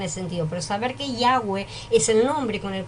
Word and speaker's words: Yahweh: Así escrito, se pronuncia Yahweh.